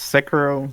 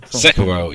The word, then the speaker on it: Sekiro: I think it's Sekiro. Sekiro, yeah, that sounds better. I think I heard somebody pronounce it.